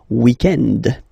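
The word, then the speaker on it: week-end: So if we're talking about the weekend, okay, but then pronounce it the French way, weekend.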